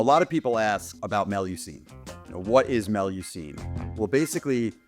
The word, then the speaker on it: Mélusine: And Joe approached me and said, well, the name is Melucine.